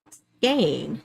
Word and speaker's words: skein: but someone told me that it's actually skein, like with an A sound.